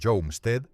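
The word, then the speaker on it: Homestead: En el parque histórico nacional Homstead, pronunciado Jomstead, en Nebraska, el servicio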